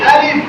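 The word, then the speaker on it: ألف: জোরে আলিফ আলিফ আলিফ সবাই হাত এরকম করেন বাতাস বের হচ্ছে বাতাস বের হলে মনে করবেন আপনার আলিফ শুদ্ধ হচ্ছে যদি বাতাস বের না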